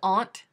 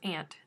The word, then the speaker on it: aunt: not the yeah oh see there's aunt and then there's ant me i say aunt instead